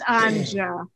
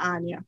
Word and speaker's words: Anja: It's Anja, not Anya.